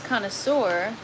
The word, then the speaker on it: connoisseur: Well, um, a lettuce connoisseur, and actually it's pronounced connoisseur because it's French.